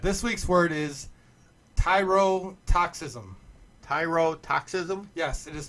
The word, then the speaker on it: tyrotoxism: okay go ahead this week's word is toxicism tyrotoxism yes it is spelled t-y-r-o-t-o-x-i-s-m tyrotoxism well oh wow I'm gonna